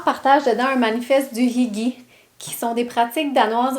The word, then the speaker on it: hygge: Pour ceux et celles qui sont déjà familiers avec le Hygge danois, It's pronounced Hygge.